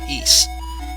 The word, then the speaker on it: Ys: six books of ease and again it's not pronounced wise it's east and defeat these evil forces and it's got